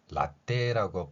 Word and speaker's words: latte: 현재 우리말에 없는 글자에는 새로 개발한 글자로 각각의 발음을 표현하고 있습니다 자 그 첫 번째 내용입니다 우리가 흔히 라떼라고 표현하는 단어가 있죠 라떼라는 말은 우유를 의미합니다 이탈리아어